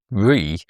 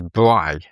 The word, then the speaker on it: Brie: I mispronounced re as bri.